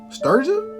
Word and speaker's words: Strega: Strega. How you gonna pronounce that?